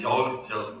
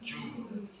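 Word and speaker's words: joule: Everybody says Jaw J u l it is pronounced as jew j o u l jew that is the upper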